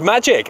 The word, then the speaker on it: Maciej: uh yeah it's pronounced magic yeah it's pronounced what sorry magic like abracadabra just magic oh just magic and that's how you